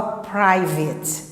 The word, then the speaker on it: private: Então você fala private, tá? Ela não tem schwa, mas é uma exceção.